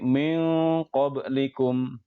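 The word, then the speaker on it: مِنْ قَبْلِكُمْ: Jadi min qablikum. Jangan min qablikum tapi min qablikum. Demikian cara membacanya.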